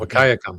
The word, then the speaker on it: Wahkiakum: Wahkiakum is how I would go. Wahkiakum. Wahkiakum? That's what I've always heard, yes.